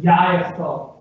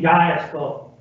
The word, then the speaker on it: Yayasol: But if you didn't hear the first word here, Yayasol, you can pronounce it after me, Yayasol. Yayasol.